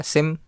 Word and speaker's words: SIEM: सो जिसे SIM नहीं पता, SIM को हम लोग सिम भी बोलते हैं. We pronounce it एज ए सिम.